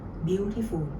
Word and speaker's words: Beautiful: คะ เรา เนี่ย จะ ออก เสียง หนัก หรือ ว่า stress อยู่ ข้าง หน้า ว่า Beautiful สังเกต นะ คะ ฝุ่น